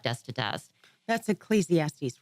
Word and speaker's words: Ecclesiastes: I was reading, I don't know how to pronounce it, you know better than me, Ecclesiastical?